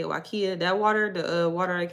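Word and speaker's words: Waiakea: That's how they say it, Wakia.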